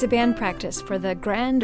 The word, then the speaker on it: Grande: the Black Swamp and it's very important that there's an e a silent E on Grand and a silent E on Royale and a heavy metal a heavy metal o on the o of UK list that's Sher and Jason